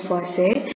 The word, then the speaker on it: Lavoisier: Lavoisier, cara bacanya adalah Lavoisier.